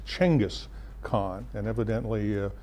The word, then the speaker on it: Genghis Khan: is correct you it's changus khan and evidently uh westerners have been mispronouncing it for hundreds of years okay so let's talk